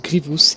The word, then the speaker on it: Grievous: à propos de grievous car oui ça se prononce grievous et non de reduce ougrée diouf c'est l'erreur